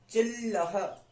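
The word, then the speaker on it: चिल्लः: आया, अल नहीं आया, अब की बात इल आया, क्योंकि छोटी ई की मात्रा है, ई के तुरंत बाद हम आधा ल प्रोनाउंस करना है हमें, तो हम इल बोल देंगे, चिल। उसके बाद पूरा ल बोलेंगे, लह, चिल्लह, चिल्लह।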